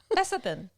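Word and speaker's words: lecithin: How do you pronounce that? Soy. There's always a soy leth what is that? Leathan.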